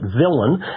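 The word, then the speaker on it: villein: so it appears to be the lien we pronounce it villain if you'll go to a Black's Law Dictionary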